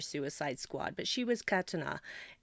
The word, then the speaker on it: katana: Well, I haven't had the patience to sit through Suicide Squad, but she was katana. They say katana, but it's the correct pronunciation of the word is katana.